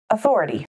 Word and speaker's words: authority: Authority. Authority has four syllables, authority, with the emphasis on the second syllable.